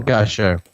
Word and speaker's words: Bertrand Gachot: Gachot? Is that how you pronounce his surname? Bertrand Gachot. Yeah.